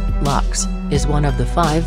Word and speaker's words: Lucchese: the luk crime fam family pronounced lux is one of the